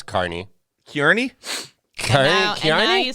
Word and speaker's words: Kearney: was from kearney you didn't know how to pronounce carney kearney okay i know you say texas is